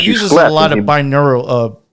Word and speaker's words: binaural: As he uses a lot of binaural, how do you say that again?